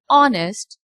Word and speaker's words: honest: But in these two words, our and honest, H is producing a sound and we can say that H is silent. So in house her sound, hills her sound but in our o sound and honest o sound.